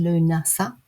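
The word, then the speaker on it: Lughnasadh: Lunasa or Lammas arrives 31st of July, 1st of August, pronounced Lunasa.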